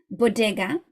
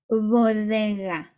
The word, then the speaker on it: bodega: Okay, so this word, in English you would pronounce it like this, bodega, whereas in Spanish you would say bodega, bodega, really, really soft.